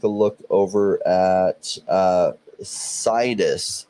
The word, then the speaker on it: Sidus: um let's take a look over at uh cytus see this as the we had an interview with the team the CEO and he he pronounced it see this he's from Europe so